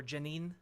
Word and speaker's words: Jenin: large attack on uh jenin uh or Janine I believe it's pronounced um that resulted in